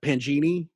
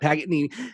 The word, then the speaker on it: Paganini: Well, he definitely borrowed a lot from what Pangini, yeah. the very famous clown from Italy or whatever. Paganini? Yep. Paganini.